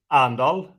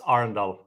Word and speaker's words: Arendal: you awesome to have you so you say arendelle i say arundel what's the right way to pronounce the the company um actually i wouldn't the local local would say andal but that's not what how we say it